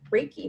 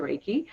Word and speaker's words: Reiki: And Debbie, you are what's called a Reiki master.